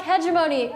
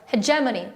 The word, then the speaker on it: hegemony: around again I'm sorry I've been pronouncing that word wrong since my first political science class I like I like heavy mony I like doing sounds better but hegemony we are the hegemony